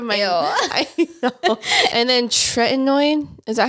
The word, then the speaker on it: tretinoin: And then tretinoin. Is that how you say it? Yeah, the tretinoin.